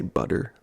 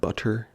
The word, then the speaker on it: butter: I think I mentioned this last time, but I say butter like it's spelled with D's, not butter like it's actually spelled with T's.